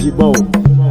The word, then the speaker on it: Jhybo: J-A-Y-B-O is pronounced Jibo.